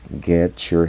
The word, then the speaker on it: get your: en este caso, your, la pronunciación de la T cambia como si fuese una Ch. Get your.